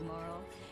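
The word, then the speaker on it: Marle: I'm Marl, your landlady. So how'd you like the place? So now we know how Marl is pronounced over in Chrono Trigger as well.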